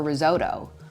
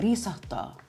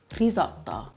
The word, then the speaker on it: risotto: restaurant, don't order a risotto, order a risotto, risotto. The S is almost just dancing off of your tongue, risotto. And I must say, I'm quite partial to a risotto al funghi.